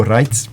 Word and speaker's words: Reitz: antes Padre Raulino reitz Raulino raitez pronunciar bem o nome dele e junto com o